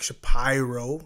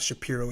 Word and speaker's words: Shapiro: And, with the new brass coming in and Ross Atkins and Mark Shapiro. Yeah. Sorry, I have to say his name right. It's not Shapiro, it's Shapiro.